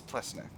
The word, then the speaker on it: Plesnik: Close associates of Bosdar Ple Pleeneck have been spotted in the company of se I think this is Plesnik. I think I've been saying it wrong. I think it's Plesnik.